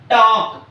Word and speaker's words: talk: letter g is silent Talk t a l k talk here the letter L L is silent f f l k